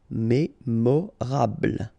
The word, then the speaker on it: mémorable: Mémorable, don't insist on the final E, mémorable.